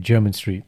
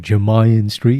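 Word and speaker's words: Jermyn Street: hit german street yeah this is a very interesting name so it's about like jeremy mayan so it's like jeremy with nyn in the end the first time i pronounced this i called it jeremiah street it was corrected by his chat from barbara said nah german street you know he thought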